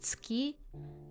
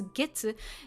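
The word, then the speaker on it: 月: On its own, it's pronounced tsuki, and it means the moon. Okay. But let's see. When it's okay, getsuyobi. So getsu. So this one pronounced as getsu.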